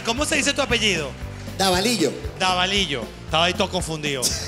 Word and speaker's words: Davalillo: Davalillo.